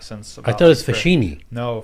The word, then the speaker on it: Facchine: The Italian pronunciation of fuh-KEEN-ee, and I've been rolling with that since. I thought it was Facchine. No, Facchine is the Americanized version.